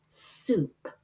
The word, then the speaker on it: soup: But this week, we are going to learn that OU also makes an oo sound, like in soup, soup. It says the oo sound.